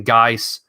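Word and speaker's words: GAIS: show he says he's a big believer in guys and he doesn't care what anybody says it's a big believer in guys how can we not root for Darius guys you gotta be rooting for him at least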